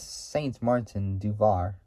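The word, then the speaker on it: Saint-Martin-du-Var: which is in France, and also it says Saint Martin du Var, but it's Saint Martin du Var.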